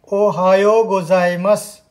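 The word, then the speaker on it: おはようございます: हम कहते हैं, उसको जापानी में बोलते हैं ओहायो गोजाइमस। दोस्तों, ध्यान रखना उच्चारण का, ओहायो गोजाइमस।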